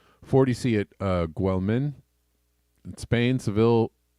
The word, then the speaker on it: Sevilla: at uh guelman Spain Seville or severe I don't know how you pronounce it Rose above 37c again I think it's more like Sevilla or Sevilla Sevilla but they are